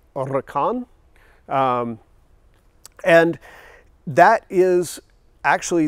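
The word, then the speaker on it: Huracán: it is pronounced as uricon because you dropped the H the H is always silent in Spanish you try to roll your r's which I'm terrible at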